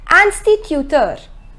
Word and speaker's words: instituteur: The pronunciation is instituteur.